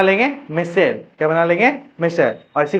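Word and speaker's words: micelle: करेंगे मिशल मिशल formation Hindi में इसको बोला गया है तुम्हारा मिशेल बोला जाता है भाई इसको मिशल बन्ना यस यस यस तो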